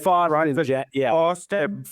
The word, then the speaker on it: Faustyn: Uh, you just pronounce your name, but don't you normally pronounce it more like Foston rhymes with Boston.